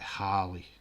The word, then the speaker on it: Harley: saying the name right is it harley or hayley harley it's harley isn't it sorry if i butchered your name he got the text it's like harley harley okay cool oh my gosh yes